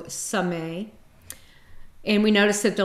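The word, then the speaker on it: Samekh: The K is silent, so Sameh.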